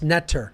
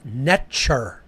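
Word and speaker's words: nṯr: Okay, it was actually not pronounced Neter. That's the English equivalency phonetically. It was actually pronounced Netcher. The T is a ch sound, hard, like TCH, Netcher. That's how it was actually pronounced in ancient Egypt, Netcher.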